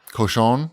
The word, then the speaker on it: Cochon: I had fried ribs at Cochon.